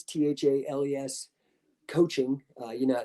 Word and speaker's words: Thales: working with my business thales t-h-a-l-e-s coaching uh you know spelled out but thales so rhymes with bailey's it's the the uh